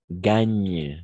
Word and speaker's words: gagnent: En effet, gagnent parce que ENT. On ne prononce jamais gagner.